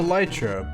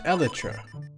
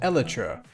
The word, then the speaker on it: elytra: proper plural of this is aletra not the lytra but elitra this gives good reason to believe that the in-game item is also pronounced eletra not a lightra like seemingly everyone defaults the pronunciation to anyhow